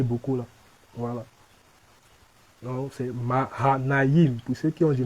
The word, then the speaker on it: Mahanaïm: Mahanaïm. Il y a Ma, il y a Ha, il y a Naïm. Donc, le I avec 2 points là. C'est I. On le prononce Iim. Jean de Mahanaïm.